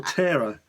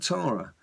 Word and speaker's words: Tara: and then of course tra so Tara or terara as I seem to call the uh in in England you pronounce that Tara they seem to call a terara in um